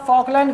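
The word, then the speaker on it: Falkland: फोकलैंड current. यह क्या है? एल साइलेंट रहेगा ना? फोकलैंड current.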